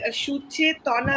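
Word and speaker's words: সুচেতনা: And Suchetana Biswas. Am I okay with the pronunciation? Suchetana? Yes, absolutely.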